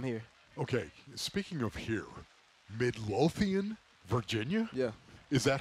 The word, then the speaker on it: Midlothian: and and I'm here okay speaking of here Midlothian Virginia yeah is that how you say it yeah that's ex Midlothian right there man it sounds so medieval Midlothian